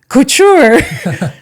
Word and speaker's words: Couture: was some government Couture, and she says, Couture. Couture! There you go. That's how you say it.